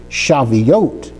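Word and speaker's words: שבועות: So the vav and the toav they make up the oat of shaveote.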